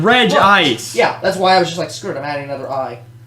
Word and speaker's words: Regice: Which is why the anime had that movie that said Regice, even though it's Regice.